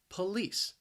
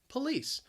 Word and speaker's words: police: laws the police now the word has two syllables the stress is on that second syllable that first syllable you hear that schwa that but that second syllable that spelling that l-i-c-e is pronounced lease police police maybe i hope